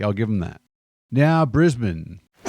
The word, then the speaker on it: Brisbane: Now, Brisbane. Spent like 2 weeks in Brisbane and I really liked it. If you're an Aussie, it's Brisbane. But Americans turn it into Brisbane like it's some sort of poison.